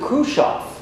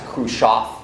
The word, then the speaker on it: Khrushchev: Khrushchev cursed oh yeah let's I've heard some of our friends pronounced a crew shock but anyway now he's